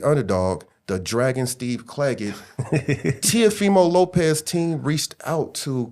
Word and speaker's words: Teofimo: Y'all keep pronouncing his name wrong. Teofimo Lopez.